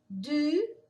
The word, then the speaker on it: du: Du, você. Lembra que o U, ele é com um biquinho assim, U.